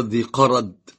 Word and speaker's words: ذي قرد: هذه في قصة في الغابة، هي غزوة ذي قرد أو قرد أو غزوة ذي قرد، هذا صحيح، لا قرد ولا قرد، غزوة ذي قرد.